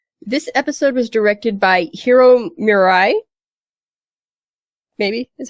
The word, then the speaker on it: Hiro Murai: directed Chapter six this episode was directed by Hiro Mirai baby is how you say his name uh